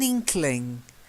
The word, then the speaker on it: inkling: and the next one it's not like inclined it's to have an inkling an inkling inkling yeah